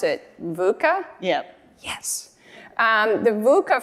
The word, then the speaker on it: VUCA: new to me we'll see if I can pronounce it vuca yep yes um the vuca framework in the